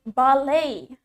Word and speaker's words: ballet: In British English, the stress is in the first syllable. Penekanannya ada di suku kata pertama. Ballet. Ballet. Ballet. Next, we have in American accent. In American accent, the stress, penekanannya is on the second syllable.